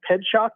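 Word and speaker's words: Pietrzak: race back its way back to but yeah ped shock is the way you pronounce it okay so I just looked it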